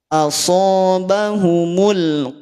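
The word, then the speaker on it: أَصَابَهُمُ: Asobahumul O. O, tidak ka. Kalau ka nanti masuknya tipis. Tadi ada yang bilang ya, ketika huruf tebal itu bunyi vokalnya jadi O. Memang jadi O. Efek dari ketebalan bunyi huruf tersebut akhirnya bunyinya jadi O.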